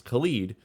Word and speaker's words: Khalid: Khalid.